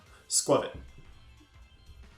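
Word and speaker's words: Skwovet: It's not a long O sound, it's a short O sound. It's scroll plus covet. Squirvet.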